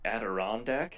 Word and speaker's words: Adirondack: One of my favorite words, I don't even know if I'm pronouncing it right. Adirondack, is that right? I believe so. That's correct.